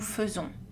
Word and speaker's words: faisons: Attention à une exception dans laquelle A plus I est prononcé E. Exception à savoir, nous faisons.